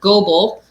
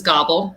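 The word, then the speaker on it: Goble: everybody refers to as gobel although most people not from the area pronounce it as gobble which is awesome thinking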